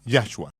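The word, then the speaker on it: Yahshua: Yo pronuncio el nombre de nuestro Mesías en forma precisa, Yahhua. Y no hay sonido de J en hebreo o griego. Y Jesús no tiene significado en hebreo, pero ya es la forma corta de Yahwe. Yeshua es la forma contraída de Yeshua. Yeshua significa salvación, pero Yahhua significa Yahweh es nuestro salvador. Y al igual que con muchos otros nombres hebreos, el énfasis es en ya.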